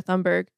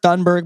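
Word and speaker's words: Thunberg: you say her name I've heard thundberg but I think it's toonberg has not been doctored that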